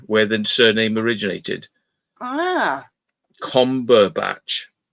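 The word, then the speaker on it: Combach: Oh, combatch was the name of a village in Cheshire where the surname originated. Ah, combatch. Oh, but it's spelled B A C H without the T.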